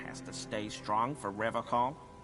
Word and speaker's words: Revachol: But someone has to stay strong for Revachol. He pronounces Revachol with a hard K, unlike other people. You said Revachol.